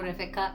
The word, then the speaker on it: Refeka: No, I told you B in Kikuyu is pronounced as the F as F, so Refeka.